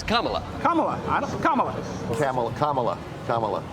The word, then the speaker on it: Kamala: begins if they could only decide how to mispronounce that name I'm surprised Camala even has a chance no one likes camela they wanted carela in and that's what I